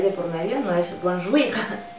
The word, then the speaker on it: Bonjour: ¿Te acuerdas cómo pronunciamos en el alfabeto la J? J. Pues ahora vas a enmudecer la I y vas a pegar la J a la siguiente letra, lo que sería una O. Bonjour.